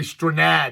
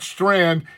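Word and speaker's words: Strnad: I'm going to say Strad because that's the way it's it's spelled. It's not Strand. It is spelled S T R N A D.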